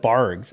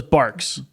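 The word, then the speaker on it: Barq's: Barks. What? Dude, I think it's pronounced Barks. With a Dude, with a Q. It's Barks root beer. So it's a Q. Yeah, my whole life I've called it Bargs, and I'm like, and it's my favorite.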